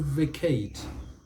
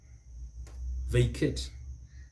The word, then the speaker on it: vacate: a word vacate vacate vacate is american vacate is american they put stress on the first syllables the british it is vacate vacate the second syllable and that is a